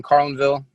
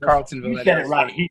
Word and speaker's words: Carlinville: up for uh shevin carlinville i said that right carlin because they said carlton i had to say